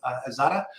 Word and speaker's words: Xata: Um and we're joined today uh by Tutor as well who's CTO of Aatada or Zeta. You get to kind of choose your pronunciation there.